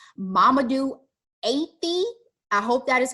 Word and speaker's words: Mamadou Athie: I tried to find the correct pronunciation. Mamadou Athie.